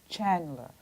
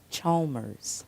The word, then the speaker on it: Chalmers: I said it wrong, You right? said it 100% Always, wrong. always wrong. 100% always wrong. I mean, he's in the book. Give us the right version. His name is Chalmers.